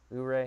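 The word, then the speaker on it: Ouray: mispronounce oh right ore ooray i think it's oo ray is how i've always heard it or you you're a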